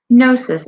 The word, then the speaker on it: Gnosis: It's Noesis, but with a silent G. I just want to hear how they say it. Gnosis. Okay, so I was not that off.